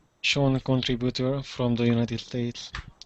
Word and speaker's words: Sean: So this name is pronounced Sean. I hear a lot of students say Sheen. it's not. It's almost like there's a U in there.